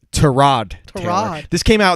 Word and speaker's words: Tyrod Taylor: His name is pronounced Tyrod Taylor.